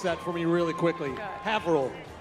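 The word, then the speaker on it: Haverhill: Hannah Tar from Havl. Havil. I used I had to but first time I moved up here I I had to pronounce it Haverh Hill.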